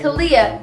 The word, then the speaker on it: Kalia: Kalia, your name rhymes with onomatopoeia.